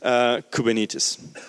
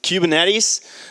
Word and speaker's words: Kubernetes: cluster and the guest cluster is koo Benitez and please don't confuse this with Cuban at ease that's how they're people from vs are mostly pronouncing it so that's a restaurant